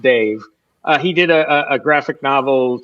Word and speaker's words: Dav: There's this cartoonist / children's book author named Dave Pilkey. It's spelled D-A-V, but it's pronounced Dave.